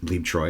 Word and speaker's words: Bleibtreu: here Monica BB Troy and I got to pronounce her on that so Moritz BB Troy is how you say his name apparently but